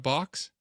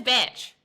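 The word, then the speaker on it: bach: It's a batch. Is that what it is? Am I saying it wrong? Yeah. Batch.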